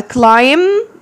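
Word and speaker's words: climb: زود انت دي يبقى كلايم كلايم البي ما بنطقها كلامم كلام كلام كلام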